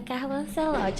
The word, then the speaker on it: Carlo Ancelotti: O nome dele é Carlo Ancelotti. Eu só não sei se eu sei pronunciar o nome dele certo, corretamente.